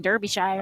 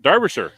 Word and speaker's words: Darbisher: Darbisher I've been saying Derbyire. I I had a trick. She told me pretend that the E is an A and the I is a U. Derbasher. Darbisher. That's how I That's right. Darbisher.